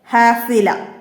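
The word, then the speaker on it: حافلة: ഹാഫില, ഹാഫില. അവസാനം ഹാത്താവ് വരുന്നുണ്ട്. അത് ഉച്ചാരണത്തിൽ ഹ ആയിട്ട് ഇവിടെ ല അതിൻ്റെ കൂടെ നമ്മൾ ഹ ആയിട്ട് നിർത്തുകയാണ് ചെയ്യുക.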